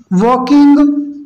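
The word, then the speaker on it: walking: व्वे share shot eyes वाकिंग slowly with heavy ESL यहां पर देखिए वाकिंग में एंड साइलेंट है इस बात को आपको ध्यान देना है ऑन हिस बैक दास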